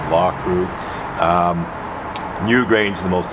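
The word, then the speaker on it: Loughcrew: mouth law crew uh i sometimes mispronounce that as loku but i believe it's actually pronounced law crew um newgrange is the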